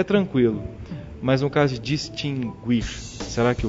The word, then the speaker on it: distinguir: Vou dizer o seguinte, a palavra distinguir é distinguir porque essa pronúncia foi consagrada segundo o falar, o uso no Brasil.